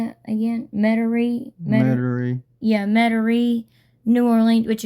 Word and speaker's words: Metairie: Metairie.